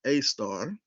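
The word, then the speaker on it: Sagittarius A*: However, one star, Sagittarius A2, pronounced A star, is a mysterious invisible object that occupies a strangely unique position, the exact center of our galaxy.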